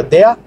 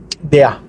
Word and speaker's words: der: Aunque se pronuncia, como ya vimos, la E junto con la R, se pronuncia, la E cambia a A, se pronuncia DEA. Bueno, cambia a EA. DEA.